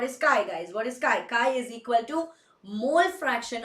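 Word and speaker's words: χ: Yes, it is written as X but pronounced as CHI chi.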